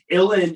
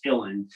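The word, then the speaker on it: uilleann: known as illin bagpipes now illin is spelled u-i-l-l-e-a-n-n which looks like julian but it's irish so it's illin um they don't pronounce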